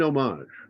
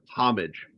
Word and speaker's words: homage: It's called an homage. I know. Or as some Americans say, homage.